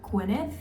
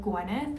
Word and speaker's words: Gwenyth: my name wrong because they'll say like gwynth instead of Guth which I really don't